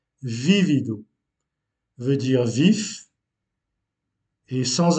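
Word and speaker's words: vívido: sur le premier i, vivido, veut dire vif, et sans accent, vivido. Donc il se prononce déjà de façon différente et veut dire vécu. Donc vivido, vécu, vivido. On accentue la première syllabe, vivido, vif.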